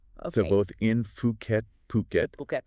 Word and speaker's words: Phuket: interesting they're based in fukat fukat okay and uh it's puket not fukat just a little pronunciation note there a good to know